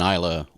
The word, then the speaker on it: Islay: Okay, and this is an Islay. Isla. Yeah. Isla is the way to pronounce that, we believe.